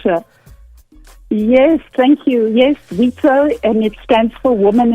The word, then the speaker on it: WIZO: How do we pronounce it? Pleasure. Yes, thank you. Yes, WIZO, and it stands for Women International Zionist Organization.